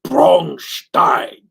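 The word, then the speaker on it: Braunstein: that brown steeners uh Brown steeners is perfectly acceptable American pronunciation because I think the German pronunciation is bronstein Bron Brownstein yeah uh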